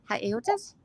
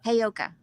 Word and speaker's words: Heyoka: Heyotas? They're Heyoka. Heyoka.